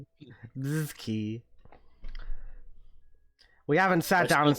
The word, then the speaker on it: BZKI: We're going for BZKI, but pronounced Bazooki. I'll pronounce it the way I want to pronounce it. Buzzi. Bizi.